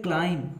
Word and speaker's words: climb: अगला वर्ड है क्लाइम, CLIMB, CLIMB, इसमें बी अंडरस्टूड है, साइलेंट है, छुपा हुआ है, क्लाइम पढ़ते हैं इसको, ठीक है।